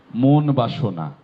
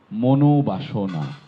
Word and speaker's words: মনোবাসনা: মন যোগ বাসনা যখন একসাথে হয়ে যাচ্ছে তখন মনোবাসনা হয়ে যাচ্ছে, উচ্চারণটি কোনোভাবে মন বাসনা নয়, মনোবাসনা।